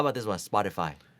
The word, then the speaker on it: Spotify: in the english translation spotify is a swedish startup but uh i've only ever heard it as spotify okay cool okay now